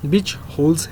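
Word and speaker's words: Buchholz: तो पहला टाइप है बिच होल्स रिले। इसको ऐसे ही लगभग प्रोनाउंस करते हैं।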